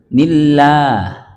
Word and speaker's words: nillah: Tipis itu maksudnya bukan Allah tapi lah. Bukan nillah, bukan. Dibacanya nillah, Pak. Kalau dari yang istilah tarkik itu, lam jalalah sebelumnya didahului oleh huruf berbaris kasroh. Ya. Nillah. Kalau Allah manyun, Allah. Kalau nillah mangap.